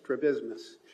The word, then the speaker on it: strabismus: Strabismus? Did I pronounce that? Strabismus.